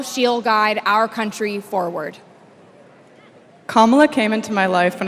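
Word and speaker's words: Kamala: do you pronounce it first say comma like a common sentence then he say la like la la la la la put it together and it's 1 2 three comma all right so let's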